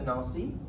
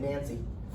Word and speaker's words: Nancy: runs from Paris to Nancy. I'm trying to pronounce it Frenchy. I'm not just saying Nancy, which is what most of the Americans would say.